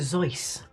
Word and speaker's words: Seuss: that's the shots kicking in um is Dr Seuss Dr Zeiss that's how you should pronounce it says the person who calls Esprit e spirit I was 11.